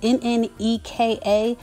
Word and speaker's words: Nneka: Both Wendy and the new woman, I believe you would pronounce her name Nneka, N-N-E-K-A, Nneka.